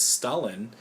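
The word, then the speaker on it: Stollen: We do get Christmas Stalin, which is not a Russian dictator from the past. No. It's spelled differently.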